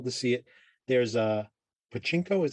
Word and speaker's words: Pachinko: There's a Pachinko, is how it's pronounced, that game, which is based on that